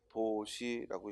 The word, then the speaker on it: 보시: 원래 포자로서 이 두루 펴다라는 의미를 갖는데 불교 용어에서는 포시라고 읽지 않고 뭐라고 읽어요? 보시라고 있습니다.